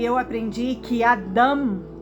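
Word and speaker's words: אדם: e eu aprendi que Adam que é como se fala Adão em hebraico significa humanidade e que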